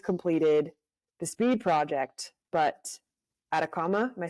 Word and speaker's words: Atacama: is you just completed the speed project but at a comma am I saying it right yes yes Chile